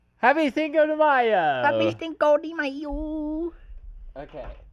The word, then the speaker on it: Cinco de Mayo: Cinco de Mayo pronounced Cinco de Mayo in Mexico.